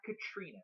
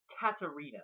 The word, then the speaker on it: Katarina: And by the way, it's not Katrina. It's Katarina, like Katarina.